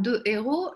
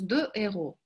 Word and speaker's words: héros: Обратите внимание, что слово «héros», там «de héros», нету сечения у «de». И я думаю, что вы знаете, почему. Почему? Можете написать 5 секунд, почему у нас «de héros».